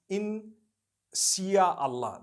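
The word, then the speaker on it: Insya Allah: If you look at, the Malay language, they write in Sia Allah, the S-Y-A. They pronounce the S-Y the way we pronounce S-H.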